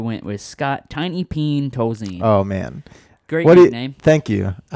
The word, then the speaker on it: Tolzien: Scott Tolzien's name, because it's important to pronounce it Tolzien.